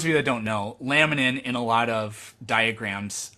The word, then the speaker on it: laminin: do you know what latiman is lab Lab l-a-m-i-n-i-n spell it again laminin laminin I couldn't say it